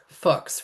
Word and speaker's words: Fuchs: Fuchs rhymes with books.